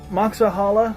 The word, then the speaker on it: Moxahala: title is lost but moxa Halle or Haila depending on how you want to pronounce it was named by the